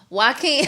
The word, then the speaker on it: Joaquin: Yeah, Joaquin. I'm like Joe. his name Joaquin. But That's it's how you like, pronounce but it's it?